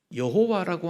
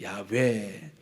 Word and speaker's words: 야훼: 그래서 학자들이 계속 연구를 하니까 이 모음이 잘못 붙은 거다. 정확하게 붙으면 야훼 이리 되는 거다. 그래서 야훼, 뒤끝자가 회라고 했지만 베라는 발음이 더 정확합니다.